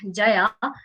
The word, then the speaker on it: Jaya: thing with german that they don't pronounce the letter j as jo but yo so my name there was not jaya but yaya all right that's how